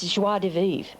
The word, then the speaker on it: joie de vivre: And I keep thinking to myself, is this joie de vivre? Which is how you pronounce it.